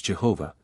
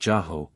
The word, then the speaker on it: Jehovah: This superstitious fear of discovering the name with four letters, which of late we have been used falsely to pronounce Jehovah, but seems to have been originally pronounced Jaho or J is never, I think, heard of till this passage of Josephus.